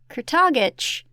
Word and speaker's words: Kurtagich: which the audio book her last name is pronounced kurtagich and I don't know how